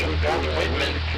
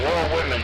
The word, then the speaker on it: Walt Whitman: Like the way the South Jersey says Walt Whitman, like the Walt Whitman Bridge, it's Wall Women.